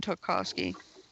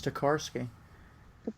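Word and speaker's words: Tokarsky: how to pronounce it I know how to pronounce it it's tarski tarski yeah okay it took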